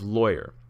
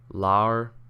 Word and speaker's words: lawyer: How do you pronounce the first syllable of lawyer? Rhymes with boy. Boyer, lawyer. Rhymes with flaw. Lawer?